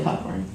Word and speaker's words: Cockburn: So please join me in welcoming Leslie Cockburn. Okay, first thing, it's pronounced Coburn. Oh, I'm sorry. Scottish pronunciation.